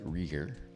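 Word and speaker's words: Rieger: been on some other channels briefly it's often mispronounced it's rer um this is the Rye Whiskey Bottle and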